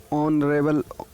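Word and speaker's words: honorable: तो इसमें ऑनरेबल में एच लगा हुआ है, लेकिन जब हम लोग इसका प्रोनाउंसिएशन करते हैं तो ऑनरेबल ओ की आवाज़ आती है ओ।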